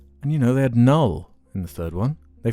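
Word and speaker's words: Knull: Yeah, Null. I was right. How do you spell it? K-N-U-L-L. Oh, Null.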